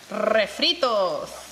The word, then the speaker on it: refritos: Well, you don't have to roll the R if you don't want to, but it's a good time to practice. Let me see, roll your R, Cloud.